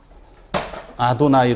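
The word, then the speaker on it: אדני: 했지만 아도나이 로 바로 뭘 한거예요 3 까만 아도나이 로 발음을 한 거예요 아도나이 나의 주님 이라는 뜻이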